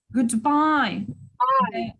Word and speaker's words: goodbye: Goodbye. Bye. Yes, the stressed syllable is here. Yeah, on the second syllable.